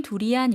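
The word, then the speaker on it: ทุเรียน: 토리안 우리나라 말로는 두리안 이렇게 발음하는데요. 태국어로서는 투리안이라고 발음했습니다.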